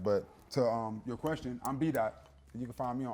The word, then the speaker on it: Daht: The dot is D-A-H-T. It's pronounced D-O-T, but it's D-A-H-T. It's phonetically accurate. The A-H is the ah sound, so it's B-Daht.